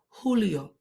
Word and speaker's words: julio: in Miami in Julio the J Mixon H sound in Spanish que tiempo I say in Miami in Julio and according to the